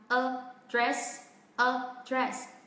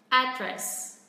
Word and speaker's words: address: Rồi, còn nếu mà chúng ta phát âm theo kiểu của người Mỹ thì trọng âm rơi vào âm tiết thứ nhất. Đấy, từ này cũng vẫn có hai âm tiết các bạn nhé. Address. Đó, mình sẽ xuống giọng âm tiết thứ hai.